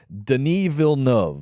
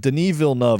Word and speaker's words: Denis Villeneuve: our French uh here real quick it is Deni VN that's right Den VNV is how you pronounce the den VN is how you pronounce